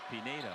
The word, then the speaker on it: Pinedo: There is no tilde over that N. The young man from Spain pronounces it Pinedo.